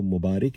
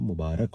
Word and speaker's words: مبارک: جی ہاں، رے پہ زبر ہوتا ہے، زیر نہیں ہوتا. اکثر لوگوں کو میں نے مبارک کہتے ہوئے سنا ہے، اور بہت سے اناؤنسر ہوتے ہیں، بھائی مبارک ہو، ہمیں مبارک باد دینے آتے ہیں. تو مبارک نہیں ہوتا، مبارک ہوتا ہے، اور مبارک باد ہوتا ہے.